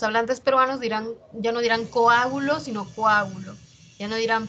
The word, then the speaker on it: coágulo: En coágulo, separamos la O y la A, ¿ya? No es coágulo, coágulo con U no es.